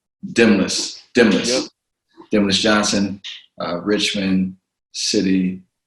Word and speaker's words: Demnlus: Demnlus. The N is silent. Demnlus.